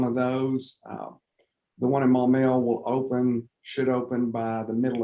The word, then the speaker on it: Maumelle: West Little Rock and Maumelle. Am I pronouncing that right? Maumelle? Yeah. No, you butchered it pretty good. Okay, why didn't you correct me? It's Maumelle. Maumelle.